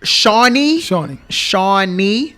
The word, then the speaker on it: Shawnee: Shawnee. Like the male name of Sean, but I guess they didn't get the girl.